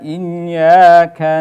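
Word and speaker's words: إِيَّاكَ: Nah, i harus disempurnakan pengucapan kasrohnya, i. Kemudian setelah itu ada ya yang bertasdid, nah, atau kita sebut dengan nabroh ya, dihentak atau diayun. Iyyaka, iyyaka ya, ya-nya jangan lupa harus dibaca 2 harokat atau mad tabi'i.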